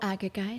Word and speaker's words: Agagite: Oh, Agagite. Agagite, thank you. If I'm pronouncing that wrong, thank you.